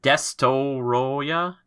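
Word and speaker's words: Destoroyah: oxygen destroyer that and i maybe said this name wrong the first time but is it desto roya destoroya not destroyer but maybe however you want to say it there's a chance that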